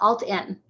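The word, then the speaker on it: AltEn: look up it's called it's spelled a-l-t-e-n and then meade nebraska alt-n meed nebraska so i'm very involved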